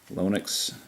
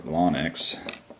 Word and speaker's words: Lonex: somehow I think the lonix Factory that's how I pronounce it somehow the lonet's factory or lonex uh screwed up the